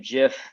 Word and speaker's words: GIF: do fave cat gifs the correct pronunciation of jiff um recipes you know